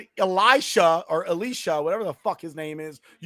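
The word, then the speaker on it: Laisha: It was Alicia, but it was spelled L A I S H A and I kept pronouncing Ali Sha because like I thought it was like a Muslim name.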